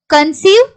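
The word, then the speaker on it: conceive: இதுவே நீங்க சி கூட இந்த இஐ சேர்ந்து வருது அப்படின்னாலும் நமக்கு லாங் இ சவுண்ட்ல தான் நம்ம உச்சரிக்கணும். Receipt, கன்சீவ், ceiling, receipt, கன்சீவ், ceiling.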